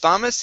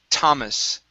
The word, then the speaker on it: Thomas: uh this name okay instead of Thomas it's Thomas it's probably one of the only times we don't pronounce that th okay it's Thomas Thomas good all right